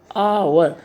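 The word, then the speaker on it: hour: एन आवर अगो, थोड़ा प्यार से बोलो आवर। यहाँ पर प्रोनाउंसिएशन में एच साइलेंट है, हम ऐसे बोलते हैं आवर।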